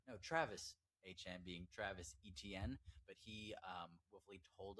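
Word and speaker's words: Etienne: um Trevor Han being Trevor or no Travis Han being Travis ETN, but he um hopefully told us that his last name is pronounced Hchan.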